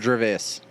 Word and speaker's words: Gervais: It's Jerry Seinfeld and Ricky Gervais on that episode. Is it Gervais or Gervais? Gervais. Don't care. Is it Jarvis? Ricky Jarvis. Gervais.